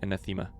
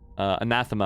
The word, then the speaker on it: anathema: whom a treat is enema we will laugh another great word by the way anathema i think is actually how you pronounce it we will laugh at